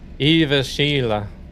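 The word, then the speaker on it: Jyväskylä: J Y A S K Y L A or E. That a is is pronounced like E.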